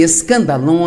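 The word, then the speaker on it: σκάνδαλον: A palavra ofensa vem de uma palavra grega, pronuncia-se escandalon, e é, na verdade, a parte da armadilha onde você pendura a isca que vai atrair o animal e permitir capturá-lo.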